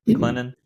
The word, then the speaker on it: Clinton: So have you noticed any, have you and Alicia noticed any just cultural differences and being in Clinton, trying not to pronounce the T, Clinton, yeah, South Carolina?